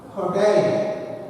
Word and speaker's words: hotel: See, for example, this word hotel. It has got 2 syllables. Hotel. And stress is on the second syllable, not on the first syllable.